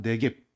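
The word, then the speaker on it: Negev: 짧게 말하면 네겝, 또 어디에는 좀 그것을 좀 발음을 좀 길게 늘려서 네겝이라고도 말해요.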